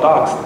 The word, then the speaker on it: D0x3D: One of their board games is called Docs. You know, it's spelled D0x3D, but you just read it as docs.